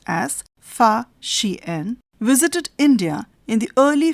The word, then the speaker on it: Fa Xian: Chinese traveller Fa Xian, pronounced as Fa Xian, visited India in the early 5th century CE.